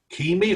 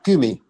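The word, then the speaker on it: Kymi: principal guest of the kimi or kumi sinfonieta uh it's cu kumi kumi um yeah i can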